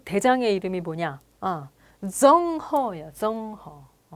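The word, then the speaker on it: 郑和: 정허야, 정허. 뭐 우리식으로 발음으로 하면 정화인데 중국식으로는 정허.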